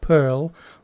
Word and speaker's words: PIRL: that's P IRL but is pronounced pearl like the little thing you find in the oysters I was sent one